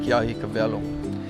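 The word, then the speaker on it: Keʻahiakawelo: You'll see rock signs that says Garden of the Gods, but the correct pronunciation would be Ke'ahikawelo.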